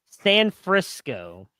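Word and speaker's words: Sanfrisco: It's San Frisco. It's like Frisco, Texas, and San in front of it.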